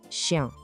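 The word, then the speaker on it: chien: O segredinho aqui é o som nasal no final. Tente não falar o N, mas deixar o som sair pelo nariz. Chan, o cachorro.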